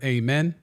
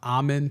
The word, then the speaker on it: Amen: Thompson Twins they favor amen or amen I heard him I heard it pronounced almond today instead of Amen so we'll roll with